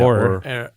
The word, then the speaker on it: Auror: He's the Auror, that's how you pronounce it, right? Auror. Yeah, Auror.